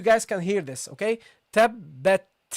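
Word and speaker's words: تبت: There should be air coming out after from your mouth at the end of the pronunciation of the ta. Okay, this is one of the attributes of the ta, and it should be there. Okay, it's not allowed to leave it away.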